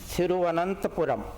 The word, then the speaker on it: Thiruvananthapuram: And I want you to hear this and try and pronounce it after me. Thiruvananthapuram.